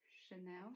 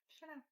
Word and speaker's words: Chanel: know some brand like Chanel how do you pronounce the word Chanel yeah Chanel Chanel five or something yeah yeah I think